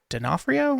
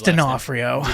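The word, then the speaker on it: D'Onofrio: Charlie Cox and Vincent denafo I think that's his actual name the guy who plays F yeah it's Vincent I can never pronounce I think it's denafo um but they're sitting at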